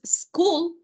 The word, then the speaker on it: school: usted escucha esa E, sino que el sonido de la S es S. Entonces, school, student.